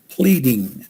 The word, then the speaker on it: pleading: our flattening tweeting pleading it has an e sound in the ea pleading voice it means asking